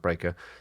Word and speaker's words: barrico: He draws off the ration, which is then transferred to a small breaker, which is spelt barrico, but pronounced breaker.